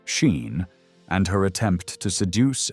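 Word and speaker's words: Sín: At its heart, the story remains a supernatural narrative about the otherworld woman sin, whose name is pronounced roughly like Sheen and her attempt to seduce and destroy the king of Tara.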